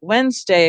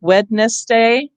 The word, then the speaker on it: Wednesday: which we now get Wednesday, and we don't pronounce the D anymore.